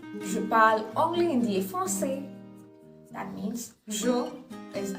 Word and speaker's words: français: Je parle anglais, hindi et français. Last word in français, not pronounced. Last letter.